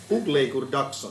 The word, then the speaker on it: Hugleikur Dagsson: Hugleikur Dagsson. Yeah. If you just pronounce it like who let the dogs out.